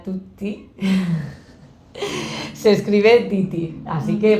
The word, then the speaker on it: Tytti: e r g r Perfecto entonces aunque se pronuncia Tutti se escribe Titi Así que Pero bueno con